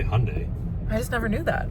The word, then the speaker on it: Hyundai: how you say it yeah you can say Hyundai I just never knew that okay well we